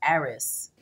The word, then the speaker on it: Aries: going to be for aries aries i found that the real pronunciation of your name is um pronounced eris okay so i think